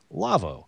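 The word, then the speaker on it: Lawo: in part by our friends at Lavo l-a-w-o pronounced Lavo they make some audio consoles you know they've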